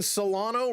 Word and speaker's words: Solano: Donovan Solano rhymes with Pedro Serrano.